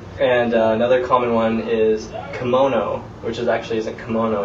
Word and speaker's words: kimono: as sounding you pronounce pronounce all the syllables um in the way that you pronounce Japanese uh syllables so instead of you know I being uh I it's e right you know and if you studied any foreign languages before you know that most other languages in the world pronounce i as e so English is weird